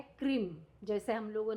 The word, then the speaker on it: क्रीम: खींचना नहीं, बस मतलब हाँ, नॉर्मल बस क्रीम बस, क्रीम यस। क्रीम। ये इसको हम इंग्लिश में अगर एक तरीके से प्रोनाउंस किया जाए तो कैसे होगा? CRIM की KREEM KREEM क्रीम, और श्रिम के लिए SHREEM।